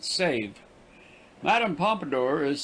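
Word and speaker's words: Sèvres: by duly authorized artists the name of the town is pronounced save madame pompadour is said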